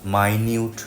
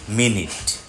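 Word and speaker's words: minute: তাকে বলা হয় মিনিট এই শব্দটা মাইনিউট না বহুল প্রচলিত একটা ভুল শব্দটা মিনিট ইটস হার জব টু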